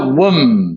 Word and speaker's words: womb: in the womb. B 발음 안 나고요.